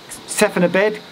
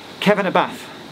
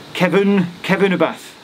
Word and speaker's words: Cefn-y-bedd: And then, again, if I was to read it with my silly English brain, Sephenabed, but it's actually Kevanabath. Kevunabath. Because double D is a th.